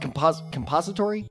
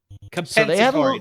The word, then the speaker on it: compensatory: They have a third-round compository. Is that how you say it? Compository, yep. Compository pick from the NFL because they lost Tremaine Edmonds. Compensatory, not compository. Compensatory. I knew it. Because it's compensation.